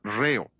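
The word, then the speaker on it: ῥέω: Es la palabra griega reo. R h e o. La H es el acento en griego, por eso acentuamos la primera sílaba de la palabra ritmo.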